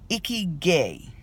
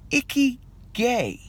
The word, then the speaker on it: Ikigai: to you about something that I can't even pronounce this morning. It's called Ikigai. I-K-I-G-A. And I was scrolling through my Facebook timeline and somebody had this posted. Ikigai.